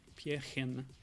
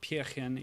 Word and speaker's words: Pärchen: Pärchen. It might be slightly different in Austrian dialect, but... Oh, these are affecting my jump physics. Oh, okay. Yeah, so Pärchen is a word that is a sort of